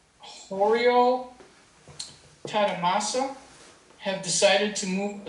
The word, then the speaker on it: 堀尾忠正: The aliens and I, Kuwei Zongzhen, Japanese pronunciation, Horio Tadamasa, have decided to move a sizable part of